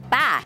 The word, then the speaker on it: Bah: Bah.